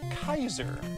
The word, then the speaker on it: Caesar: how like you know we say Caesar but that's actually uh vulgar last and in Highland uh that would have been pronounced more like Kaiser that sounds familiar to